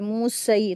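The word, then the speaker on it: موسى: यहां पर या जो है साइलेंट है। यह कुरान मजीद की खूबसूरती है। अल्लाह पाक ने कुछ लेटर यहां पर कुछ वर्ल्ड में लगाए हुए होते लेकिन वो पढ़े नहीं जाते हैं। वो रीडिंग नहीं किए जाते हैं। वो साइलेंट लेटर होते हैं। तो यहां पर पढ़ेंगे मूसा इस तरीके से।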